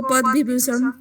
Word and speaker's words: पद्म विभूषण: और उनको पद्म विभूषण। अच्छे से उच्चारण करिए आप लोग।